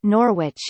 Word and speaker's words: Norwich: If there is a W in the middle of the name, it's silent. E.g., Norwich, it's pronounced Norwich, not Norwich.